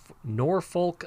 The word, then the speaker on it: Norfolk: going to talk to marie in nor nor norfolk virginia can i say that right it's like